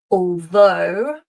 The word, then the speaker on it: although: Although. Although. And of course though, so in all cases our o u g h is pronounced o.